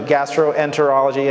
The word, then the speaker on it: gastroenterology: specialty so i chose gastroenterology so and if you if you if you look at the word uh you know it's gastro enter like enter a door and then ology so sometimes there's mrs